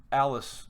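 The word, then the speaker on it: Alys: I think that Jon maybe offered Alice, or Elise, however you want to pronounce it, Karstark.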